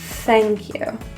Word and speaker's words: thank you: In thank you, the pronunciation of this involves airflow. So with your tongue out and blowing, thank you.